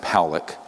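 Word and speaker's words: Pawelec: 600,000 views this man William Pock is pronounced poic uh was a man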